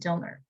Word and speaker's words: Del Norte: are also conducting supervision pretty cool meanwhile in del norte county they pronounce it dilner which i always thought was weird but that's